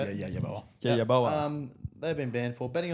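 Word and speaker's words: Yeboah: Yaboa.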